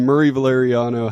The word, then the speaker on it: Murray Valeriano: magazine perfect no it's it's the wonderful comedian Murry valeriano how you doing man I'm great how are